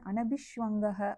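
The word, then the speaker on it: अनभिष्वङ्ग: நான் ஒரு இது மட்டும் அந்த உச்சரிப்பு சமஸ்கிருதம் மாத்தி சொல்லிட்டேன். அதுல வந்து அனபிஷ்வங்கக அப்படின்னு வரும். அபிஷவங்கம்னா ரொம்ப தீவிர பற்று அனபிஷவங்கனா அப்படி இல்லாமல் இருப்பது நான் அது கொஞ்சம் மாத்தி சொல்றேன். அனபிஷவங்க அதுக்கப்புறம் அடுத்தது என்ன சொல்றாரு அவரு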